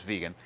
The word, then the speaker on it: vegan: uh strict vegan uh which often I hear pronounced vegan I'm not sure where that came from I'm pretty sure it's vegan uh but in any event